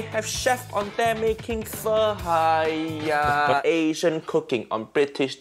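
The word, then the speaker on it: phở: Not pho, it's pho.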